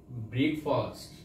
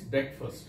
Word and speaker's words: breakfast: We generally mispronounce this word by saying it breakfast. Otherwise, right pronunciation is breakfast, not breakfast.